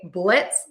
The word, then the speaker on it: blitz: Typically in English, we love to change the letter S to a Z sound. But in this case, we're going to change the letter Z to an S sound. So to say blitz, just remember, add an S to the end.